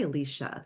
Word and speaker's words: Alicia: I mean, I should say Alicia. That's how you say it. That's how I say it.